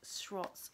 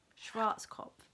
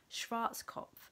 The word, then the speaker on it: Schwarzkopf: long time so this is a mousse by shruts I can obsess SWOTs cough cough Schwarz cop that's how you say it I did do